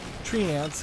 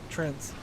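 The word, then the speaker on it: Treant: instead of us finding tree ants here uh uh Trends that's the real way to pronounce instead of world of warcraft's way of pronouncing it and hearthstone's way of pronouncing things it it doesn't make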